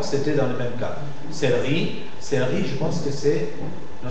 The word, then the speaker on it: céleri: Donc, la caïda de E muet, la perte de E muet de la syllabe suivante, de E muet, fait que le E, même s'il a l'accent circonflexe, se prononce E ouvert.